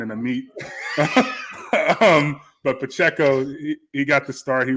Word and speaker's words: Pacheco: like I don't trust myself Pacheco but it's Pacheco man you know so it's a cross between like a wine and a meat um but Pacheco he got the start he runs extremely hard